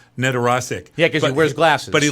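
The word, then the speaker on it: Nedoroscik: Stephen Nedorosik, I think you say his name, Nedorosik.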